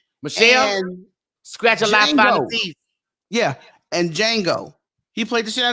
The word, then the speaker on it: Django: __ ] out of Django too yeah uh one time I saw you you had your hands on mine yeah the J salad but yeah the J is silent and collateral with Tom